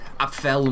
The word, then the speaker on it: Apfel: Actually, it's the Apfel mod, is how you say it, but it's apple.